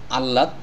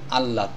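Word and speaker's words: আহ্লাদ: তো আল্লাদ শব্দটি হবে আল্লাদ এখানে এই হ অক্ষরটির পরিবর্তে যদি আরো একটি ল অক্ষর নিয়ে আসি তাহলে এই শব্দটির উচ্চারণটি সঠিক হবে যেমন সরে আল ল আল লাকার দলাদ আল্লাদ এখানে হ অক্ষরটির উচ্চারণ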